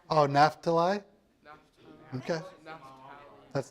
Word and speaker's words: Naphtali: The H is an F. Oh, Naphtali?